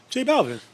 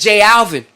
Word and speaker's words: J Balvin: Like, yo, that nigga Nori can't pronounce this nigga's name. What's J Balvin? J Balvin. Nigga, he says J Alvin.